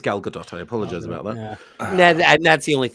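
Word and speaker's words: Gal Gadot: since 1986 and also her name is pronounced G galgadot it is galgadot I apologize about that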